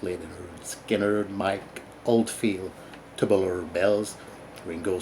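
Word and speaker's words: Lynyrd Skynyrd: Cooper, Billion Dollar Babies, Leonard Skinner, pronounced Leonard Skinner, Mike Oldfield, Tubular Bells, Ringo Starr, Ringo, just to name a few.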